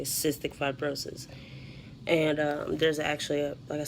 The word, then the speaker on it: cystic fibrosis: about how it's pronounced all the time there's pronounced cystic fibrosis and you know there's a foundation actually called 65 roses because that's a lot of people I guess